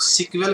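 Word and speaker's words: SQL: इसको हम लोग सीक्वेल की तरह प्रोनाउंस करते हैं, और सीक्वेल का फुल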